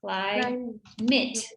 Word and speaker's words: climate: a big commitment here the pronunciation of climate you actually said it correctly the first time then you corrected yourself but it's cly cly clyde mitt okay so lots of